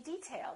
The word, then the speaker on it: detail: say detail or detail if if it's a noun we say detail that's an interesting detail first syllable stress this is a hard